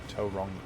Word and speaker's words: Tauranga: There's a big sign in the airport that says Tauranga, so people know how to pronounce it. Tauranga.